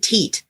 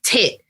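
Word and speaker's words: teat: not no it's not supposed to be said te oh that's that's really modern it's tit te e a t is pronounced tit and when you're milking something you grab their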